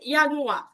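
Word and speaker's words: Januar: মনোযোগ দিবেন যেমন জানুয়ারি জানুয়ারিকে ওরা বলে ইয়ানুয়া ইয়ানুয়াই আরটা উচ্চারণ হবে না বললেই চলে ইুয়াইুয়া ফেব্রুয়ারি ফেব্রুয়ারিকে বলা এরকম ঠিক আছে ফেফুয়া এরকম করে বলবে।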